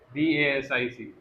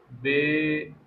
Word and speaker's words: basic: For example, right, आपने भी notice किया, BASIC. So it is basic, and you are seeing basic. It is bay, not bad.